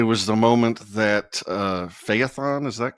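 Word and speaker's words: Phaethon: Um, it was the moment that uh, Feyethon, is that correct? How do you pronounce?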